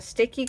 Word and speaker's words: Stickii: available on their website a sticky Club is just spelled like sticky but it's gonna be st i ck III and then club and